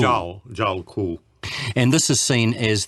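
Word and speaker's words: Djwhal Khul: By a Tibetan master, and how do you pronounce his name? Zhao Ku. Zhao Ku. Zhao Ku.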